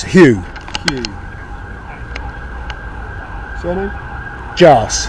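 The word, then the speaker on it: Jarce: Jars. How do you spell that?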